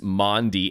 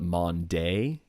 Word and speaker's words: Maundy: What is Maundy? And she did spell it right, because it's typically pronounced wrong. A lot of people want to call it Monday. It is not Monday.